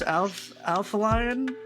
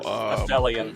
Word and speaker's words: Aphelion: How do you pronounce this? Alpha Lion? I don't know. Oh, Aphelion. Alien or Aphelion.